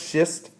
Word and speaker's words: schist: of little tiny ones and so this is pronounced schist and if the conditions are right and your